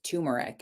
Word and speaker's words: turmeric: in it it was turmeric and I know that's how it's that's how you say it anyway like you don't ever pronounce the r but in my mind